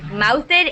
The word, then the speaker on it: mouthed: Okay, like mouthed is said with an ed sound at the end, but nosed is not.